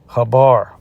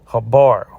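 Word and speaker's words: חבר: for enchantment is uh Habar. Okay. Okay, the Hebrew transliteration, Habar. Okay, we know that uh the true ancient Hebrew didn't have the vowel letters of E. So, this is why I'm pronouncing Habar.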